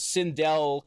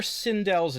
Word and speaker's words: Sindel: And one of the things it jumps to is Sindel committing suicide. Or as they call it there, Sindel. Oh, Jesus Christ, I forgot about that. Yeah, they pronounce her name Sindel, which, like, at this